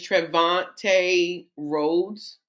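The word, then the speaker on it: Trevante Rhodes: literally his name is trevante roads roads I think is how you say it he played zire which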